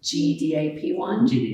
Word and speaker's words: GDAP1: is very much dedicated I always say gdap one so it's gdap1 is the proper way to say it so for me when